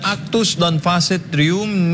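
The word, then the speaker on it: actus non facit reum: si men trea balikan maganda balikan mo daw Maganda yung pagpronounce mo mahirap e ito legal Maxim na actus non facit rum Tama ba yun Tama rum nisi mens se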